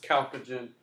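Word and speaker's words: chalcogen: of a weird word it starts with a CH but it's pronounced calogen and then this one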